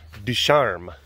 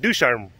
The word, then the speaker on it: Ducharme: it was named Ducharme, because again, French, Ducharme. But of course we didn't do like, you know, proper French pronunciation, so we just called it Ducharme Ridge.